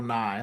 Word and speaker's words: Nighy: And I They believe that's how you say his name, Bill Nye. Like it's spelled like Bill Nighy, but I'm pretty sure he's Bill Nye, just not the science guy.